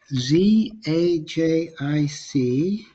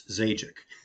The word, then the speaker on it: Zajic: And since Z's and J's in the same word tend to get people panicked, it's Zajic. Afraid I just pronounce it for you.